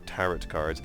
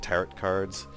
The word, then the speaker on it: tarot: We were calling it tarot cards, but then since then I think I've heard that it's pronounced tarot cards, and so, you know, it's always hard to change how it's pronounced.